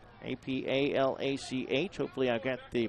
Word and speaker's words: Apalach: Bring home that win from Appalachia Dixie Board. Actually, it's Appalach Dixie Board. Apalach.